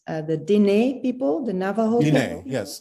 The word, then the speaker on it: Diné: I've gotten a book about a medicine woman from I hope I pronounce this right, the Diné people, the Navajo people. Yes, Diné, the Navajo, Diné.